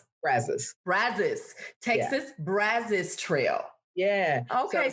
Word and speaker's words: Brazos: covers about 588 square miles wow and it's pronounced brazos texas brazos trail yeah okay so it's not